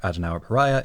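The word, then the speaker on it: Adenauer Paraya: the movie's release and the Japanese for adona paraya is adwa right the only difference in how we're pronouncing it is we are pronouncing the letter r at the end which you often don't get in Japanese this next one is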